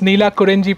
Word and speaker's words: Neelakurunji: twist the name but I think I got the pronunciation finally right it's Nila kurji Plantation beautiful name suja why